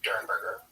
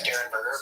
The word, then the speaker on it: Derenberger: I thought it was Derenberger, but I did hear, I think in the interview that we're going to have some excerpts from tonight, I heard it pronounced Dernberger. It's spelled like it's Derenberger. It is spelled Derenberger, but I think it's Dernberger. Either way, we're going to call him Woody.